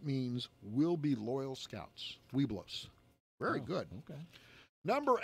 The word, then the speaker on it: Webelos: Webelow.